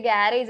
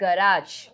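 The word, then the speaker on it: garage: ഈ വേർഡ് എന്തായി ഗ്യാരേജ് പക്ഷേ ഇത് ഗ്യാരേജ് അല്ല ഇസ് ഗരാജ് ആ ഒരു കാര്യം നമ്മൾ എപ്പോഴും തെറ്റിക്കാറുണ്ട് വണ്ടി എവിടെയാ ഗ്യാരേജിൽ ഉണ്ടെന്ന് പറയാറില്ലേ അത് ഗ്യാരേജ് അല്ല ഇസ് ഗരാജ് ആക്ച്വലി ഓക്കേ അടുത്തത് നമ്മുടെ സ്വന്തം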